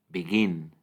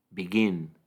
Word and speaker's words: begin: en su forma base la Stress silabo o sílaba tónica en lisen es la primera len len y en begin es la segunda begin begin este Precisamente es el